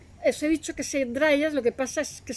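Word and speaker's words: Dryas: que se le suele Llamar dras se escribe d y r a s el dras reciente que duró aproximadamente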